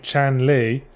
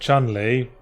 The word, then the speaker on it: Chun-Li: Someone got up my arse for saying Chan Li when I said Chun Li. I mean, that's just my accent.